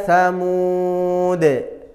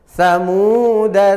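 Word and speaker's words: ثَمُودَا: dannya dibaca sukun jadi cara belajarnya begini samsamuda tsamud tsamuda tsamud Jadi kalau kita baca wasal dananya pen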